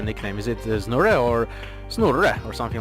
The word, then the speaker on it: Znurre: But if you want to do it properly, like it was intended to be pronounced, yeah, it would indeed be Snurre.